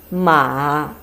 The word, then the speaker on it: 马: It means horse, and pronounced in Chinese 马. 马.